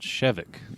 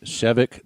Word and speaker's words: Shevek: air talk were I the way I pronounce their names is like I always stressed the first syllable I try to make it sound like a medicine or something like that